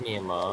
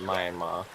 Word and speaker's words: Myanmar: It's pronounced Myanmar. Myanmar. Americans pronounce it Myanmar.